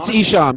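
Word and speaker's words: Esham: capital e and eshem who i can never pronounce his name correctly yeah i think that's it and they all take it's ishaam it's isha he was kind of the founder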